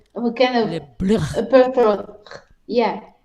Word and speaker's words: libre: speaking and Spain background, I rolled my R's. So, Crystal, what's the name of the first song? Tell me if I'm pronouncing it right, Elsa. Is it Libre? Libre, Libre. libre. Libre. See, I got you to do it because she already corrected me. Libre. It's in the throat, like a kind of Libre.